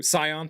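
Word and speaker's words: Scion: Sion or Skion, however you pronounce it. Big fan of that too. Sion, thank you.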